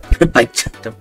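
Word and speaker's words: Baizhu: You pronounce it like Baichu. Pikachu, and you gotta sound cute when you do the two part.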